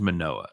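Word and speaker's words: Manoah: murdered by that time you pronounce it right it is manoa the other one is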